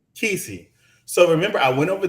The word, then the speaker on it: Quisi: How you say his name? Kisi. Quisi.